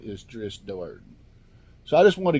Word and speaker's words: Drizzt Do'Urden: that as far as I know the correct pronunciation of his name is dris Dort so I just want to get out that